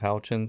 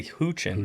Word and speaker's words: Houchin: But no, it punches, and it sounds exactly like it's spelled, which is helpful for a last name. Well, see, most people say Houchin.